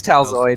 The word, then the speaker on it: Talid: from T tal wait how do you pronounce your name t it's talid talid I don't know why